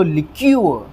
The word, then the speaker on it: liqueur: हम करते नहीं हैं, तो इसीलिए हमें स्ट्रेस कहाँ पर देना है, क वाली साउंड के ऊपर देना है। तो लिक्यूअर, लिक्यूअर, लिक्यूअर, लिक्यूअर, कुछ इस तरह से जो है इस वर्ड को हम प्रोनाउंस करेंगे।